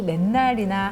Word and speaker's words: 만날: 해도 기분 나쁘잖아요 일단이 맨날이나 항상 기분이 나쁜 이유는 맨날이 우리가 발음할 때는 맨날인데 쓸 때는 만날이에요 만만자 숫자 만만자 만